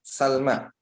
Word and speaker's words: Salma: Kata Al-Munir rahimahullah mengatakan, Salma adalah khadimu Rasulullah sallallahu alaihi wasallam bi fathis sin. Ya, Salma wa sukunul lam, ya, dengan memfathahkan sin dan mensukunkan huruf lam. Salma.